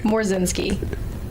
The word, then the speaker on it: Morzinski: Morzinski. What is that? Easy. It looks HARDER THAN IT IS. There's silent letters. It looks harder than it actually is.